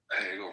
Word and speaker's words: Hegel: Hegel rhymes with bagel.